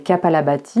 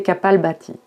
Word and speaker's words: Kapalbhati: Dans un premier temps, donc, un échauffement respiratoire, souvent appelé Kapalabhati, mais il vaut mieux prononcer Kapalbhati.